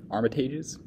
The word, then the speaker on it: Armitage: as he visits his girlfriend's family the omitted Armitage armitage's how that's pronounced as he continues to his day the